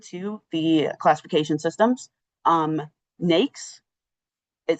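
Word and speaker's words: NAICS: Um NAKES is how you pronounce it.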